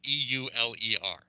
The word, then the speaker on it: Euler: If anyone knows the name Euler, it's spelled E-U-L-E-R, okay? Euler.